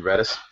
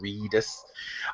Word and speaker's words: Reedus: name is a Norman Redis is it ready sir reedus reedus to ease I should pronounce it the way it's spelled reedus so as the as